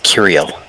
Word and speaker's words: Curiel: Its name is Curiel. Exactly as it's spelled on there.